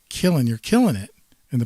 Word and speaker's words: Killen: Paul one of those one of those like kil - le ends you know the kind of phonetically because I I've gotten